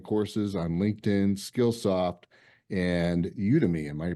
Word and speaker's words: Udemy: And Jan is an executive coach and keynote speaker with numerous online courses on LinkedIn, Skillsoft, and Udemy. Am I pronouncing that correctly?